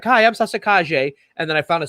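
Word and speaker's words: Calle: for her soap operas like hi i'm sasa kaje and then i found a second source and said it's pronounced kaje even though it sells looks like it says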